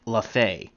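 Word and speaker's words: Lefebvre: will be Joe lafha I actually looked up how to pronounce this gentleman's name and it looks like lafay and he will bat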